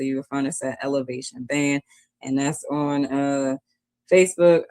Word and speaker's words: Elevation: The name of the band is Elevation. It's spelled ELEV, the number 8TION. If you're looking for us